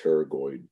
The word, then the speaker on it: pterygoid: an n so the p is silent it's pronounced pterygoid masseter temporalis and medial pterygoid those close the